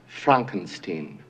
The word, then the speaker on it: Frankenstein: "It's pronounced fronkensteen."